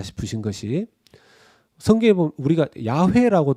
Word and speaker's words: 야훼: 야외 라고 되어있습니다 야외 예 야외 요리 성경이 야훼 라고 되어 있습니다 그런데 이 야외를 한국식 발음으로 옮길 때 여호와 로 옮겼습니다 여호와 루 그러니까 야훼 와 여호와